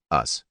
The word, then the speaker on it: US: 1968 was Ron kanga's us pronounced us as in not them kanga's group sought to